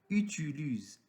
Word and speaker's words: utilise: Quatrième mot, utilise, c'est-à-dire user. Exemple, le coiffeur utilise des ciseaux. Le mécanicien utilise des clés. Le menuisier utilise des scies. On remarque que S entre deux voyelles se prononce Z.